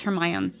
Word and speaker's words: Hermione: my on her mine it's not Hermione apparently everybody's pronouncing it incorrectly but it's her my own Hermione me like that's